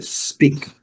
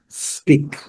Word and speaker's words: speak: Aqui a gente gosta de lembrar, antes do S colocamos um C, para não deixar que nós coloquemos um I e falar speak. A pronúncia é speak, speak.